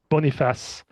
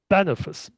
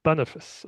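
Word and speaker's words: Boniface: Well, his successor is going to be this guy Bonafas. Okay, so it's Bonafice. Bonafice. I have a I have a hard time to pronounce his name. Bonafice. Bonafice. Okay, so I keep I keep saying Bonafas because it sounds more French, but it's Bonafice.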